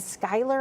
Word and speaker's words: Schuyler: This is for Fulton, Mason, and Schuyler, I believe you pronounce that. I apologize if I'm saying that wrong. But Doppler radar is showing us the considerable threat. Schuler. Okay, I'm hearing it's Schuler.